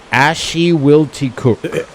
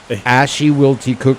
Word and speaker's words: Ashuwillticook: how to say it Ash to will cook ashy will to cook ashy wilty cook ashy wilty cook say it three times ashy wilty cook it's kind of like Beetle Juice but at the